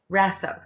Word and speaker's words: Raso: um i believe you were calling uh angela rosso razzo rasso rasso thank you uh dr resso uh uh if